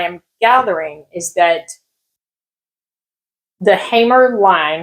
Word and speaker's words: Hamer: gathering is that the Hamer line, I think that's how you say it, because it's sure not Hammer, right? It's got to be Hamer.